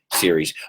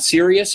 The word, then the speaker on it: series: watch more movies TV's Series okay careful with this one's not serious it's series whether it's one or